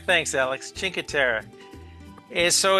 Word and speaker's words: Cinque Terre: And our favorite place that we went to is, and I have the hardest time pronouncing this even so many years later. Chinkatera. Chinker. Chinkatera. Thanks, Alex. Chinkatera.